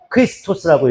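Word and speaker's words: Χριστός: 헬라어로 얘기하면 어떻게 얘기하냐면 크리스토스라고 읽어요. 크리스토스. 크리스토스라고 읽어요.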